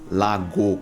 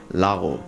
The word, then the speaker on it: lago: G na língua espanhola, onde você não diz lago com esse G forte, mas sim lago.